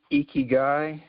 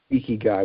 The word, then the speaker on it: ikigai: The ikigai. Ikigai, yeah. I wouldn't even know how to pronounce that.